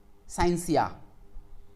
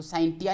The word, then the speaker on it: scientia: The English word साइंस is made from Latin word साइंसिया। आप लोग यहाँ देख रहे होंगे ये वर्ड, यहाँ पे इसकी स्पेलिंग SCIENTIA, तो साइंटिया नहीं है, यहाँ पे टी साइलेंट होगा, उसको पढ़ेंगे साइंसिया।